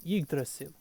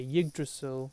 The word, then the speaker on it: Yggdrasil: know, is known as Yggdrasil, or you could say Yggdrasil if you don't want to use the Old Norse accent or pronounce it the old way.